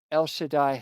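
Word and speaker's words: El Shaddai: And in Hebrew that is pronounced El Shadai, which is beautiful.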